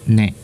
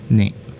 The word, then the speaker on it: 音: And this is oto, and seldom times it could also be pronounced as ne. It's secondary kunyomi reading, ne.